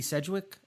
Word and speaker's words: Sedgwick: Sedgwick, am I saying it right?